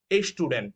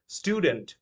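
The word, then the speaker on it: student: এই শব্দটা অনেকে ভুল করে বলে থাকেন এ স্টুডেন্ট, বাট the actual pronunciation is স্টুডেন্ট, right?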